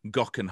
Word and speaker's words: Geoghegan: Plus, we grab a quick coffee with the newly crowned Giro champion, as now pronounced by Jeremy Whittle. It is Tao Geoghegan Hart.